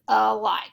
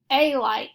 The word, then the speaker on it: alike: This word is alike. We don't say a like, we say alike, so this A is marked with the schwa sound.